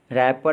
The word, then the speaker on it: wrapper: रैपर में जो silent letter है वो है W।